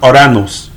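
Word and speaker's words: οὐρανός: concordance is a Greek pronounced or a nose or a nose right oh you are a and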